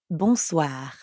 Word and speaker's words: bonsoir: is that means evening the n sound is kind of like saying ah at the dentist ah but soi also